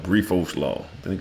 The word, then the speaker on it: Briffault: There's a concept called Brifault law. I think it's spelled BRIFFAULT. Brifault law.